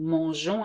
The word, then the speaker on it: mangeons: And here you have to add an E to make the sound je, nous mangeons, and not nous mangeons.